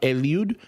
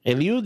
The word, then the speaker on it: Eliud: That was my my my So, I'm Elude. Eliude is in Spanish, but people can't pronounce it, so I go with.